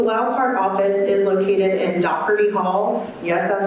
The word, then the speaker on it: Doherty: The Wildcard office is located in Doherty Hall. Yes, that's how that's pronounced.